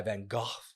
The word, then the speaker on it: Van Gogh: by venga uh by van gogh goth by van gogh um that's the proper way to say it